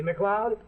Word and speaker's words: MacLeod: first time just remember it's a scotch name like mine see MacLeod sounds like club that smell em a CLE OD mrs.